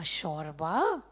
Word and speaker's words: shorba: Why not call a bowl of soup a shorba uh which rhymes with a Greek named zorba?